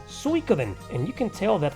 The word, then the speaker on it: Suikoden: it's suicoden others suikoden in reality it's actually pronounced suikoden and you can tell that from the many